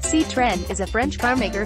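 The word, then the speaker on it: Citroën: on June 4th 1919 Citroen pronounced C trend is a French car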